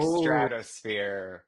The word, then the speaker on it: Stratus Sphere: It's like stratosphere, but it's the stratosphere. So people are not going to understand how it's spelled right off the bat, right?